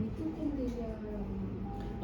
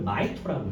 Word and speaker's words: 마이토콘드리아: 미토콘드리아라고 말했잖아요. 미토콘드리아를 올린다고 나도 말했는데 나 때는 미토콘드리아였어. 근데 이제 발음 표기법이 최근에 많이 바뀌어가지고요. MI거든요. 그러니까 MI를 마이로 읽어 요즘은.